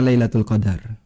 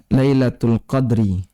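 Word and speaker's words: ليلة القدر: Qadar sepulangnya Indonesia Hai ada dua cara baca ya the lounge Indonesia bisa dibaca lailatul qadar ini ternyata di paha Hai bisa dibaca Lailatul Qadri file-nya di sukun Hai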